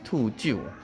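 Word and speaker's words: 秃鹫: So we always think that vultures in Chinese we call 兔鹰. They're actually not. They're actually not eagles. It's actually pronounced properly as 兔鹫. Okay, vulture 兔鹫.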